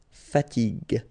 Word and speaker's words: fatigue: as we said here, you should pronounce it g, g. Okay, so you get the word fatigue, fatigue.